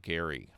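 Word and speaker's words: Gerry: concept of Jerry mandering although Jerry mandering was a soft G but his name was with a hard G Gary hard G sound Elber Gary um okay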